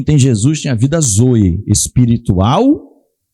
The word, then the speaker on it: zoe: Como é que se escreve? Vamos lá para adiantar, é Zoe, tá? Z-O-E, Zoe.